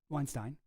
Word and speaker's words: Weinstein: Uh, and his brother Brett Weinstein, Weinstein, that is how you say it.